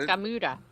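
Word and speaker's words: Gamera: It's Gamura.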